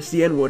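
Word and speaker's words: Cianwood: se or ke or cenwood however you want to pronounce it I've heard people say keenwood I've heard people say cenwood doesn't really make a difference cuz I know over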